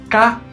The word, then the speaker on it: 嫁: Se fala tia no mandarim ou ka no japonês.